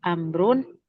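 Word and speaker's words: عمرو: amru amrun wa umaro tepat bacanya om doroba amrun Wa umaro wa umaro-nya bukan wau atas ya. Oh do iya tidak dibaca ya.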